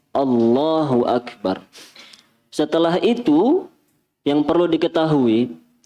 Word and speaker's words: Allahu Akbar: Terkait dengan takbir ini, yang perlu diketahui para jamaah yang dirahmati oleh Allah, tadi nggih, cara bacanya seperti itu, Allahu Akbar, bukan Allah, tapi Allah, Allahu Akbar.